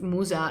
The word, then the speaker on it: Musa: oh how do you say the name of Musa in in English I think it's Moses is